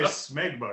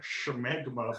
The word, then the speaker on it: smegma: I would just say smegma because I don't think there's an H, but I kind of like schmegma better.